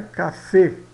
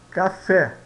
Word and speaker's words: café: mais forte né café aqui tá escrito Ó café significa café eh não é cafê é café tá esse e aqui é